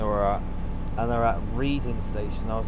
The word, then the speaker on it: Reading: They looked up to know what station they were at, and they're at Reading Station.